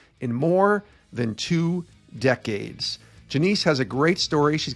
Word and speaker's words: Janese: the last name finally right so it's it's janiece constantine with alabama and i finally got it